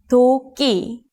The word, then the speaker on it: 도끼: Here's a Korean word that uses this double consonant, 도끼. It means axe. Please listen to these 3 syllables to hear the difference. It's not 기, it's not 키, it's 끼, 도끼.